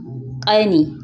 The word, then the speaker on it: ƙani: Younger brother, ƙani, ƙani.